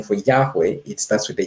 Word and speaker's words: Yahweh: German, the spelling for Yahweh, it starts with a J. So it's Yahweh. You'd pronounce it in English as Yahweh, but I think in German they probably say Yahweh.